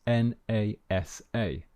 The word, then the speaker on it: NASA: pronounce the acronym sorry we pronounce the acronym as a word so we do not pronounce the individual letters here are some examples so listen to the pronunciation we say nasa nato we don't say